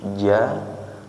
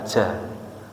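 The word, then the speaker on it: ج: Pengucapan yang tepat sesuai dengan ucapannya Rasulullah Sallallahu Alaihi Wasallam, huruf jim pengucapannya tanpa disertai dengan angin, bukan ja tapi ja.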